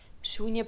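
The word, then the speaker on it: शून्य: Shunya pronouncing with the long U.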